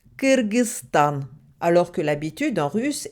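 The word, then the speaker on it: Кыргызстан: dit kirgz Bank et donc le nom du pays se prononce kirgzan alors que l'habitude en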